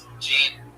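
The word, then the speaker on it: Jeane: It's spelled like Gianne. J E A N E L. Whitney, all one word. Jean with a silent N and E after.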